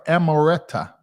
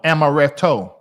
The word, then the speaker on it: Amaretto: amarto amarto amoretto sour am I saying it right or that's it right there she was right amoretta no Amaretto Amaretto Sour is it true that